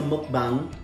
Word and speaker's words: mukbang: I looked it up and it's pronounced the exact same way a Filipino would pronounce it if they read it. So we are doing a mukbang with KFC food while we discuss our topic for today.